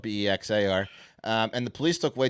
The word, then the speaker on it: Bexar: We still got silent X's at the Alamo. Yeah. This is 20 miles north. Yeah. Anyway, Bexar County, spelled Bexar.